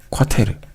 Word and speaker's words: quater: 세 번째는 뭐냐면 바로 비스, 테르, 쿼테르 라고 읽는 것인데요.